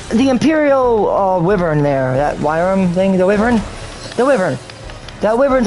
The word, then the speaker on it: Wyrm: Because it's called Wyram, which is pronounced worm, but it's Wyram. That's the irony in it. But let's just get one thing straight. There is a Wyram, which is pronounced Wyram or worm, and then there is a worm, pronounced worm.